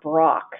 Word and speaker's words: Brach: a woman named Tara brach and her name is spelled BR a CH it's kind of like the candy company and Tara brach is